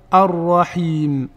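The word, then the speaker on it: الرحيم: Donc on va prononcer Ar-Rahman et pareil pour Ar-Rahim.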